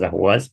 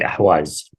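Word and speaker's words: Ahvaz: People sometimes pronounce it as Ahwaz. It's actually Ahwaz.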